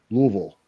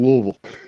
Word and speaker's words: Louisville: It's even the people that live here get some that say Louisville, then you have some that say it's Louisville, then you have some that say it's Louisville, and it's actually Louisville. That's what I mean when somebody pronounces it like that. Just Louisville. That's when you know you're a real native.